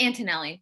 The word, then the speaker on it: Antonelli: good um you could correct me if i mispronounced your name uh it's antonelli but it's okay i remember i remember it